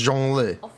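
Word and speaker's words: Zhongli: right y'all yeah it's Jung Le Mr Jung Le so J Le's name I think the hardest thing is the first character right joh so starting with the zh sound it's kind of like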